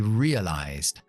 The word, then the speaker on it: realized: La pronunciación es exactamente igual porque se pronuncia con la S con voz, que es Z, que es la Z. En esta palabra tenemos la EA. Comúnmente se pronuncia IA, como en cerca, nia, pues ria. Y después tenemos la E mágica que hace que la I es como el abecedario.